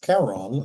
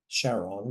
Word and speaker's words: Charon: Back here, the little boat is Charon or Charon, depends on how you say it, with the river of Styx.